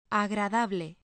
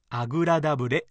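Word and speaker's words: agradable: の子ですが蔵という音が少し発音しにくいかもしれませんどうしてもあぐらだブレのようになりがちですという口を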